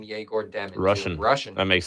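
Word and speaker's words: Egor Demin: Dude, I swear in college they pronounce his name Yegor Demon.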